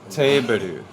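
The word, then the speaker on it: テーブル: Teberu.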